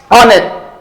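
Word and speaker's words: honest: ऑनेस्ट ऑनेस्ट व्हाई एच is silent.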